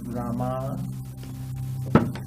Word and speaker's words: Rama: Rama.